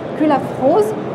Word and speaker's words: Cullafroz: Alors d'abord, Maître Sandrine Culafrose. Je l'ai bien prononcé?